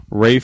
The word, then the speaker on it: Ralph: it was really good Rafe fines is that how he pronounced his name the English bti isn't it spelled Ralph uh yes but yeah I